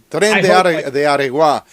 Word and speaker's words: Tren de Aragua: It's called Train de Aragua. Maybe you can pronounce it better than I can. Yeah, I hope. Tren de Aragua, which means train from